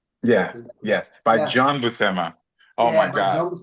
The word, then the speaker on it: Buscema: And how do you guys pronounce the brothers John and Saul Buscema? Buscema.